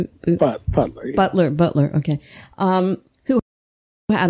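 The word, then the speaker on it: Beutler: herrera how do you say her last name buetler butler butler okay um who had all a republican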